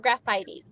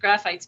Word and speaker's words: Graphites: you say graphites or graphitees okay so everybody else pronounce it graphitees I pronounce it graphites because it's what the